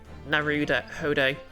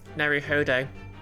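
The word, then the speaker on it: Naruhodo: earlier the you and narud Hodo is drops like for no so it's Naru Hodo I'm so bad with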